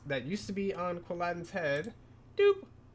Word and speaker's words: Quilladin: When Chespin evolves into this cool dude named Quilladin, or Quilladin, if you want to mispronounce it.